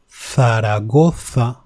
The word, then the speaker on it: Zaragoza: It is not z. It is th, like in Zaragoza, which is the name of a city, or zumo, which means juice.